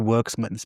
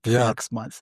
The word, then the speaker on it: Werksmans: And the lady's like, no, sorry, it's actually Worksmans because it's Jewish and it's pronounced Worksmans, not Werksmans.